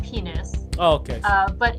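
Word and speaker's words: Pinus: maybe she's a pine penis it is actually pronounced penis oh okay uh but it's the uh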